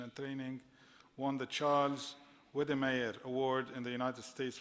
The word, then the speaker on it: Wedemeyer: delivery of education and training, won the Charles Wedemeyer Award in the United States for significant contribution to distance education. Did I pronounce it right?